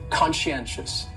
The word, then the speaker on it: conscientious: that NN conscientious conscientious that second syllable is what really confuses people because that sci almost sounds like you're saying she conscientious conscientious and someone who